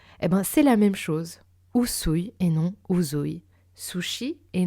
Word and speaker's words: Usui: Vous dites bien sushi et non zushi, n'est-ce pas? C'est la même chose. Usui et non uzui.